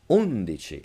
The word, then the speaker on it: undici: These have all the stress on the third to last syllable. So it's not undici, dodici, but undici. It sounds like hominy, trinity, scrutiny.